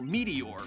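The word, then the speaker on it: Meteorz: checking out the channel Meteor. It's spelled Meteors with a Z, but it actually is just pronounced Meteor.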